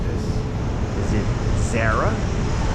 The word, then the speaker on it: Zara: Is it Zarah? Well, you will hear people say Zarah, but you'll hear more people say Zara.